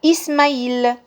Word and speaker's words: Ismaïl: Le i avec tréma remplace l'aïn en arabe. On va dire Ismaïl.